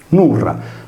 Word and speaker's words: Nurra: Nurra, con la consonante R rafforzata nel suono, è inoltre un cognome sardo.